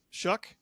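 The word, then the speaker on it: Shough: I think that's how you say his nameuck in his Shuck.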